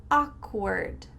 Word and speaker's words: awkward: Awkward, awkward. The first W is silent, so make sure that you say the A and the K together.